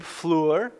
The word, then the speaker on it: Fluhrer: have a new speaker dr. gabe Fluer is that right like fleur-de-lys I think that's how you so if you're wondering